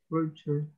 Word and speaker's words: vulture: Todas las palabras que terminen en ure, pronúnciala como si fuera chair.